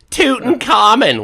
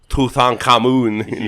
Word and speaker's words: Tutankhamun: sorry i'm it's like it's just like americans saying tootin common when it's tutankhamun yeah nobody says that well